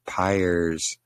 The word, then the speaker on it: Pires: Yeah, nobody can pronounce my last name. It's Pires. Yes, like pliers without the L.